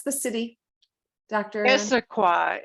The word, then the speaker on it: Issaquah: she's in washington state um how do you pronounce the city doctor issaquah issaquah i know it's a tongue twister huh that